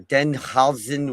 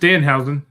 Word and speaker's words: Danhausen: Danhausen or Denhausen, whatever you say his name. It's just Danhausen. Whatever. Just like it's spelled.